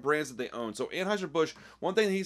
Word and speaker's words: Anheuser-Busch: So, first off, Hello Yassine didn't understand that it's pronounced Anheuser-Busch.